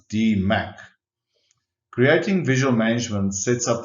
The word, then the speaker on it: DMAIC: that there is no improved phase and it's pronounced d Mac creating visual management sets up the process to